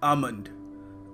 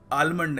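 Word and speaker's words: almond: मगर महंगा सा बादाम देखिए यहां पे जो एल है इसको हमें प्रोनाउंस करने की आवश्यकता नहीं है सो हम इसको आलमंड नहीं कहेंगे हम कहेंगे आमंड तो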